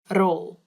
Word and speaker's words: rol: This one is funny because roll, all you have to do is roll your tongue on your mouth so it makes the r sound like before.